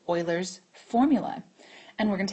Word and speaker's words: Euler: So, what's really cool now is way way back ago, there was a man named Leonard Oiler, and his name is spelled like this.